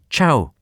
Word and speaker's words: chough: Quirk of Raby, pronounced the name as chough. A contributor to British Birds says a Cornishman he knew always pronounced the word to rhyme with plough.